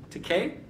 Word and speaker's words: Takei: moore if i'm going to correctly or incorrectly pronounce it george takei yes right wrong so that's not too shabby